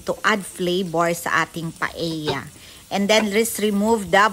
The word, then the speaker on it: paella: to cook My paea paea pala yan ang magpronounce hindi paa kasi Spanish isang paea Okay let's